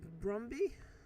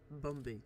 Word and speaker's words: Bumby: So it is confirmed that Dr. Brumby, is that how you pronounce his name? Hold on. Bumby.